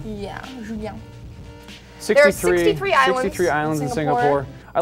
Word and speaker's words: Julien: It's like a lady's name. It's actually pronounced Julien. Yeah, Julien.